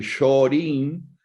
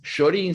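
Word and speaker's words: Shōrin: que dice que el shorin que sí es literalmente la traducción de Shaolin HM pero no como la traducción fonética no la traducción escrita o sea es de es Shaolin pronunciado en okinawense sí no es Shaolin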